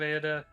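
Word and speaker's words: Erde: for a while but I've settled on the pronunciation same spelling e-r-d-e uh what you make the uh files is like akin to Barbara uh so the pronunciation is Ada uh foreign book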